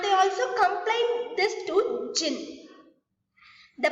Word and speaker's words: jinn: And they also complained this to jinn. The pronunciation of this word is jinn. What is the pronunciation of the word? It is jinn.